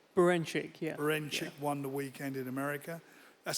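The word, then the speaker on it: Berinchyk: I've got to pronounce his name right. Beranchyk, yeah.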